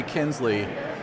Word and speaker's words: Knisley: No one gets the silent K. Yeah. They say Knisley, and they'll go, how do you spell it, or how do you say it? And I go, it's a silent K.